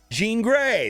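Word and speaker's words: Grey: you're guaranteed to get J green J Jean Gray that's how you say it and then also what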